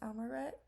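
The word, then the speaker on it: imqaret: that desserts such as amaret, which, by the way, the Q is silent in Maltese, are prepared. In the next slide, I'll go more in depth about amaret, but essentially it's a traditional Maltese pastry filled with dates.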